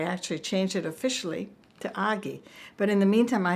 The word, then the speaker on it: Agi: Agi, and actually Agi, A-G-I, is a very popular Hungarian name, and it's pronounced Agi. Of course, it's Agi here, but it's Agi, and that's how I became Agi.